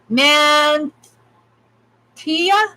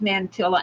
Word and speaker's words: mantilla: mantilla it's not pronounced mantilla FX as it's pronounced men Tia man TIA yeah you an angry groom an angry groom ll in Spanish is y ou so nante yeah